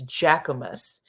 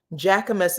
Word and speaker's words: Jacquemus: I think it's Jacquemus. Jacquemus is the name of it.